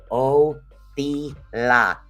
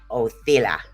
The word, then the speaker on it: Othila: Now that is Othila is the way that it's pronounced. Othila. Okay. And this is the way this particular rune is actually pronounced.